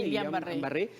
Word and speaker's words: Guillain-Barré: ver con el síndrome de Guillain-Barré, así se pronuncia, Guillain-Barré, pero sobre todo cumplir además con estas recomendaciones de vacunación.